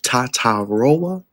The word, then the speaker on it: Tetairoa: And today we start with Tatairoa McMillan. Yes, I got the pronunciation right, but we call him T-Mac.